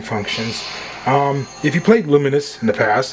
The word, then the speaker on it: Lumines: re uh rearranged and we got luminous that's how you pronounce it all set up